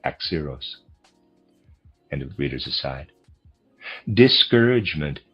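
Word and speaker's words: Axieros: Readers aside, Axeros. I'm is spelled A X I E R O S. And I'm pronouncing that Axios.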